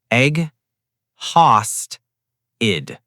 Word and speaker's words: exhausted: Break it into three parts. egg haust id Now, say it slowly. egg haust id Again. egg haust id Don't rush. Take your time. Now, the whole sentence. I'm exhausted.